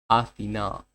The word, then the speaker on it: Athena: The goddess is Athena. Okay. Interesting. The stress is the last syllable.